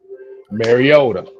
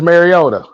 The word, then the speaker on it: Mariota: Like I said, Marota Yeah. got knocked down. Stayed down. Stayed down. Ritter knocked down. Went home. Stay. Hold on. Hold on. Let me say it right. Marcus Mariota.